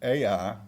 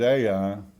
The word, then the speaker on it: Ai: in the mountains, Tommy, call it Ai, but I think the correct pronunciation is I.